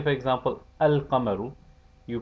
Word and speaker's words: القمر: No such assimilation takes place with the lunar letters. For example, al-qamaru is pronounced al-qamaru.